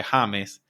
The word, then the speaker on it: James: go by James here I go by Hames but it's obviously spelled the same way and they literally pronounce